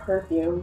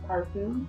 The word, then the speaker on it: parfum: It's not perfume, but parfum, I think.